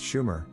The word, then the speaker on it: Sumer: Biblical reference corresponds to suumer pronounced Schumer the heartland of the